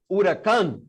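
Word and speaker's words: Huracán: i'm gonna call lamborghini how do you pronounce by the way it's actually uracan okay but anyway i'm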